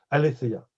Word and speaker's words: aletheia: on le prononce correctement je disais toujours aletheia mais j'ai entendu qu'on peut prononcer le thé le d'état comme un feu aletheia qu'est ce que veut